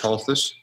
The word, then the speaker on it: Holthus: you so much judge halt this by the way talk about the pronunciation of your name yes don't pronounce the T office Mullins Victor Spanish